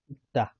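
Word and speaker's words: 읽다: अब यसको हेर्छौं ग अनि स अनि ल अनि ग को उच्चारण चाहिँ क हुन्छ है साथीहरु। क हुन्छ यसको उच्चारण चाहिँ। जस्तै इक्ता, इक्ता भनेको चाहिँ पढ्नु, अर्थात यो दा हटेर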